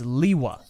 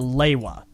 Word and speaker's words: Lewa: not the immediate default. It's Sure, Lewa. sure. And it certainly is not Leiwa. There is no A there. Yeah, no, I'm with you. So- I don't think that, but Lewa is written in the